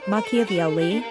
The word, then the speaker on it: Machiavelli: His Legacy even today the correct pronunciation of maki's name Makaveli is frequently butchered trivial though it may